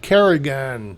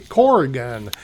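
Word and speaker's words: Corrigan: I've been pronouncing it Carrian, but it's actually Corgan.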